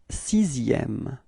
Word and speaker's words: sixième: So actually what's quite funny with it is that this X in the middle, or maybe not in the middle, but actually in the sixième word, is pronounced like s. Okay, so it's not X really, okay? So you pronounce it like S. So you get this sixième.